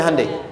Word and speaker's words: Hyundai: Hyundai kan dibacanya Hyundai, ya kan?